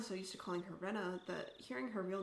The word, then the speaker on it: Rena: Also forgot about Raina's name, but like it sounds like it's supposed to be pronounced Rena, but I'm just going to keep saying Raina.